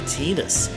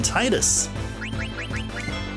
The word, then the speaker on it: Tidus: It didn't take me too long to fix my pronunciation of Tidus, because way back in the day, I called him Titus. Yeah, Titus as in the detergent.